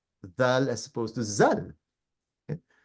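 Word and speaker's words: ذال: So, for example, just to give you an example here, a lot of people, Muslims, for example, they can't pronounce the letter Dhal properly. They will say Zal.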